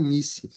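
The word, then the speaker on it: nisi: Eh, alguns dizem nice. Eu prefiro dizer nise porque s entre duas vogais a gente pronuncia com som de Z também no latim.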